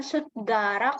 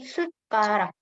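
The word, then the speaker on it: 숟가락: Jadi bukan sutgarak, tapi sutkarak. Sukarak. Ini dibaca T, ini dibaca K.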